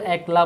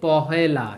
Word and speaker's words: পহেলা: এটা কিন্তু ভুলেও কিন্তু একলা বলিও না। এটাকে একলা বললে ভুল। এটা কি বলব আমরা? এটাকে আমরা বলব যে পহেলা।